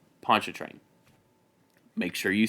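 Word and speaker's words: Pontchartrain: specifically how to pronounce Pon train it is not spelled like it is pronounced it is spelled p o n t c h a r t r a i n Ponch train make sure you say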